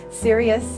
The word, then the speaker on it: Cereus: it's called dead serious serious is spelled c e re us it's like the night-blooming cereus and so I would love